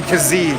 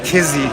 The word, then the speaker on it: Kizzee: you're doing a disservice it sounds like the pronunciation is dijon kizzy you can see